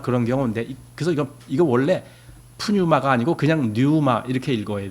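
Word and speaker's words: πνεῦμα: 사람들 그들이이 얘기를 들어봐도 이걸 퓨뉴마 이렇게 읽어요 프뉴마 제가 얘기했듯이이 피가 묵음입니다 헬라어 법칙에는 이것이 묵음으로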